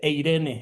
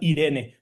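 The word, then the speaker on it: εἰρήνη: De hecho, no se dice eirene, eh, aquí yo estoy diciendo mal. De hecho, se dice tal cual Irene, porque cuando hay una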